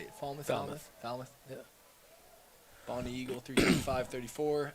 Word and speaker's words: Falmouth: 323-8-7 great run from the lads from Falmouth Falmouth how do you say it Falmouth yeah Bonnie Eagle 35 34 Attleboro 325 54